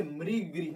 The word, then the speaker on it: मृग: जब भी री का उच्चारण आ जाए, अब ऐसा नहीं कि आ गया जैसे वह मरी, तो मरी और मृ में अंतर होता है।